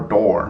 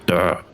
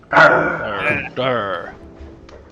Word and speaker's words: Durr: Is it pronounced Durr or door? Because they keep saying door. It's like a growl. Durr. Durr.